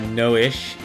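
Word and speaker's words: Noishe: a turtle uh noish is how the game pronounces it void's parents I didn't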